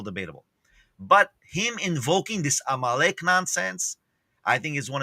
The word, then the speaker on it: Amalek: This is the first I've heard of this word Amalek. How do you say it? Amalek.